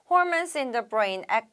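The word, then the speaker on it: hormones: 두 번째 문장 볼게요 또 나왔어요 호르몬이라고 발음하시면 안되고 발음해 주실 거고요 홀맨스 like natural pain kilors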